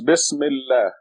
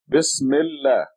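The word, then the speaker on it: بسم الله: And now, a very simple rule is that this article al becomes silent when you read the two words together. So this becomes Bismillah. Bismillah.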